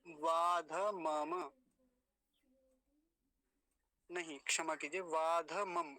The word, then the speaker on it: वाध मम: आएगा पाश मस् मद वाध मम वाध मम धक को यहां पूरा रखेंगे वादम नहीं बोलेंगे वाध मम ऐसा ये शब्द पूरा